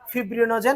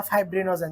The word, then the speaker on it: ফিব্রিনোজেন: দুইটা আছে albumin globulin ফিব্রিনোজেন এবং প্রথম বিন বা ফাইব্রিনোজেন যে যেভাবে উচ্চারণ করেন অ্যালবুমিন গ্লোবিউলিন তারপর হচ্ছে